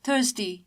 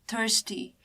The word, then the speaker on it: thirsty: The British pronunciation we can see that R is silent in British pronunciation and that's why we say thirsty in British pronunciation. Whereas in American pronunciation we can see R here. Hence we call it thirsty.